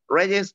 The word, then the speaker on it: Reyes: difficult to pronounce it, because in Spanish, we pronounce like if we were Russian, maybe.